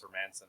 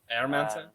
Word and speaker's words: Hermansson: Hermansson? Yeah, Hermansson. He's like, he's not Herman's son. He's Michael Jordan's son, actually. It's the Airman.